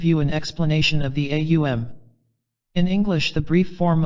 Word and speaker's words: AUM: it in this light a is a guttural sound as you pronounce it you will note it starts in the throat to pronounce you the lips must be thrust forward M you will note is formed by pressing the lips together causing a resonant tone